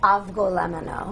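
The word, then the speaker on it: Avgolemono: Okay, so I don't butcher the name of the soup. What is the name of the soup? Avgolemeno.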